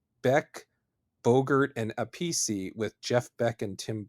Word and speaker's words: Appice: of Fame drummer Carmine Appice. I messed that up. It's actually Carmine Appice or Appice, but it seems like Appice is the preferred pronunciation.